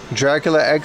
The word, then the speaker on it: Dracula X: It's pronounced Draculax. Dracula X.